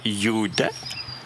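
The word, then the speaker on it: gjuta: Donc, GJ, la combinaison de ces deux consonnes, va se prononcer comme un Y.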